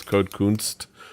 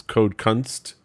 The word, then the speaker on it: Code Kunst: seeing this video to realize his pronounce code kunst courtesy of the Korean writing I've spent so many so many years so many times so much time thinking it was code Const but I was incorrect do by the neighborhood